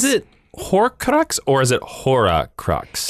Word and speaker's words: Horcrux: Is it Horcrux or is it Horcrux? It's I've heard it pronounced H-O-R-C-R-U-X. So I'm saying Horcrux. Okay, I've just heard it. I've heard actors in those movies say it both ways.